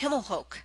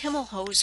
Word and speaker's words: Himelhoch: We pronounce our family name as Himelhoch. However, everyone referred to the store as Himelhoch over the years.